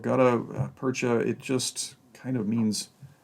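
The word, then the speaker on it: gutta-percha: a molded rubber and i don't know quite if i'm pronouncing this correctly but it's called gouda percha yeah good gutta percha it just kind of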